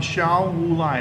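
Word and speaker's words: Xiao Wulai: and you search on Shao Wulai, it's spelled X-I-A-O, that's Shao, X-I-A-O. Wulai is kind of how it sounds, W-U-L-A-I.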